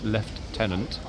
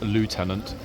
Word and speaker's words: lieutenant: am well aware that it is left tenant uh the British pronunciation and not Lieutenant uh the US uh American pronunciation um so there we